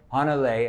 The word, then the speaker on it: Hanalei: So your daughter, how do I pronounce her name? Hanalei, after the Hawaiian island.